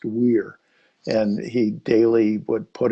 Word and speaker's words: Wear: And the river that runs, it looks like Wear, Wear, but it's pronounced Weir.